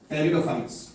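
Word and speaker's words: pteridophyte: टेरिडोफाइट्स। इसमें P silent होता है, इसको टेरिडोफाइट कहते हैं।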